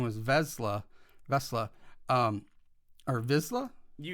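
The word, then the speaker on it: Vizsla: to realize that P his last name was vesla vesla um or vizla you got it vizla um I mean Heaven forbids there pronunciation Star Wars well this is why I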